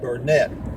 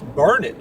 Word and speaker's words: Burnet: uh it's spelled b-u-r-n-e-t normally you would pronounce that Burnett however here if you go to the Chamber of Commerce they will tell you that it's burned during it can't you